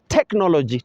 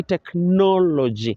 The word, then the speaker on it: technology: words like for example everyone says technology technology but we say technology so the students must